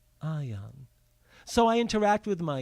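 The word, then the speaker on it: Ahyahn: My spiritual name seemingly is Ayan, A-H-Y-A-H-N. That's how I see it in my mind phonetically, Ayan.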